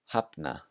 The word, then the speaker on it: hafna: So it sounds like a P before the letters L and N. So here are some examples. The first one, skopla, skopla. Hafna, hafna.